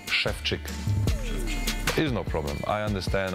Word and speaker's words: Szewczyk: time shefi can hear his name pronounced correctly schfi is no problem I